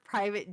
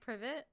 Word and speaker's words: Privet: some scenes at 4 Private Drive, which is the Dursleys' home, in Diagon Alley in London. It's so specific. Isn't it Privet? Pronounced Privet? I thought it was private.